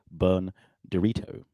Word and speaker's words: Bern Direto: With me today, I've got Bern Direto. No, I said that wrong, didn't I? That's not how you pronounce it.